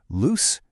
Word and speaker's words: loose: Loose, meaning not tight, has an S sound that rhymes with goose.